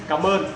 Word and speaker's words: Cảm ơn: Cảm ơn.